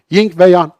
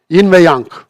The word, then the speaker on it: yin ve yang: Ya yan ve ying, ying ve yan. Dolayısıyla yin ve yang.